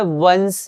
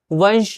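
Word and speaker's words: once: जैसे ये क्या है? वंस है। स वंश नहीं है।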